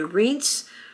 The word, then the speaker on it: Reince: I would pronounce it Rinke, but it's probably Reince Priebus. First name is spelled R-E-I-N-C-E. Kelly was the former general and secretary of Homeland Security.